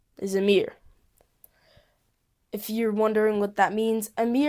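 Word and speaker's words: Ameer: My first name is Amer.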